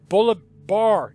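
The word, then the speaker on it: Bolívar: you've been bringing to our attention the Bolivar, Bolivar, there we go, we'll get the word out. I don't even know if that's spelled right.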